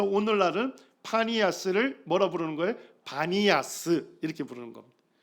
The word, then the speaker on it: 바니아스: 겁니다 그 오늘날 이제 아랍에서는 파 발음이 안 되고 파를 전부 바 발음으로 한대요 그래서 오늘날은 파니아 뭐라 부르는 거예요 바니아스 이렇게 부르는 겁니다 자